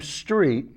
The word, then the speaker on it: Strait: And the reason why I said Dave Strait is, Judy, can we have still number 1, please? And you'll see why I pronounce his name Street.